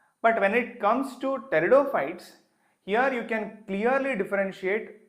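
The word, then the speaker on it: pteridophytes: See the name starts with the letter P but we pronounce it as teridopites.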